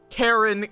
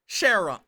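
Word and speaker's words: Charon: right in 3 weeks Kon as in Sheron I'm going to I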